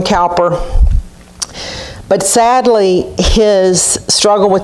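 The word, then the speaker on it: Cowper: to extend towards myself god saved william cooper or the british say cooper william calper but sadly his struggle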